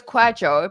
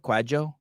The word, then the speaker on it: Kwadwo: So it's Kwadwo, but you did well with the second name. Kwadwo with a J, kind of Kwadwo. Yeah, like that. Okay, Dr. Kwadwo.